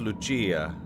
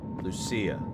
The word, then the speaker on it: Lucia: And uh it's pronounced Luchia. Mother Luchia. That's funny cuz there was already a cut scene and we called her Lucia cuz she's Spanish.